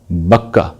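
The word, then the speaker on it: بكة: استعمال کیا گیا ہے، بکہ، وہ اس مزمور میں موجود ہے، گرچہ اس کو اب یہ بدل دیتے ہیں، اس کا تلفظ انہوں نے بدل دیا، بکا کر دیا، جس سے پھر وہ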